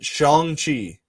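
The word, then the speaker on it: Shang-Chi: looks in an interview they said that you're supposed to pronounce it shanghi oh i did it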